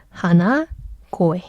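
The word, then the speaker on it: 鼻声: 그래서 하나코에 발음 어려우니까 하나 고에 땡땡이 붙어요.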